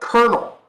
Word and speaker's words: colonel: But colonel, like the military rank. Why is it spelled like that?